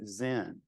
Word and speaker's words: Zen: character is pronounced Chan in Japan this character is pronounced Zen and uh this presents